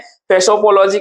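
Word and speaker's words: psephology: of election इसे कहते हैं फेसो पोलॉक हैं फेसो पोलजी कहते हैं तो स्पेलिंग लिख लीजिएगा पीएसई पी एच ओ एल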